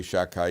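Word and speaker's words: Shaddai: should be as if we don't pronounce it we say shakai even though there's a dollar there ushmi Hashem I didn't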